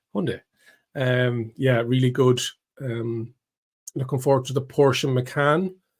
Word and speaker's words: Hyundai: Yeah, we have to say it like that now. Not Hyundai. Hyundai.